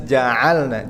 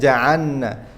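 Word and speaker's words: جعلنا: Kita baca harus sukunya jelas ja'alna, jangan ja'anna. Biasa kalau membaca cepat anak-anak restoran begitu kadang lamnya hilang karena makhraj lam sama nun berdekatan, ja'anna.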